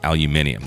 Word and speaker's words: aluminum: is grounding aluminum boats for you UK guys aluminum they add an extra syllable there I plan on doing